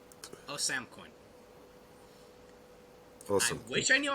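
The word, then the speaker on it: Ousamequin: s a m e q u i n o sam coin awesome which i know how to say his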